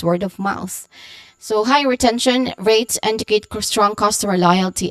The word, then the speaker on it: retention: Okay, you start with the first syllable re, which has a short e vowel sound, and then ten, which has still a short e sound, and you end with tion, which sounds like shun. Okay, shun with a schwa sound.